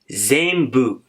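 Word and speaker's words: 全部: ज़ेंबू, ये जो न है ये थोड़ा साइलेंट है, ज़ेंबू।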